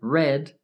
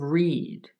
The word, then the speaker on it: read: Remember, read is the past participle of read. Yes, they have the same spelling, but the pronunciation is different.